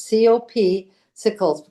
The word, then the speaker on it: Copsicles: off to the copsicles I didn't mispronounce that it's cop sickles popsicles so the cops go